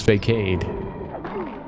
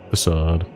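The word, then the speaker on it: façade: Damn, I thought it was fake. I've been pronouncing it fake until now. I guess I'm finding the switch on it facade.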